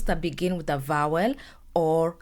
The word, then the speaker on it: au: is Mas a is O which means to the restaurant the pronunciation is the same it's O like the letter O however you pronounce it